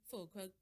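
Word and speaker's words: Füllkrug: Didn't we look better when Fulcrum, that's how it's pronounced.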